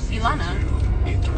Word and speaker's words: Elana: You said my name wrong! You say Alana! Elana? I know Elana, but I just, like, say it, like, quick.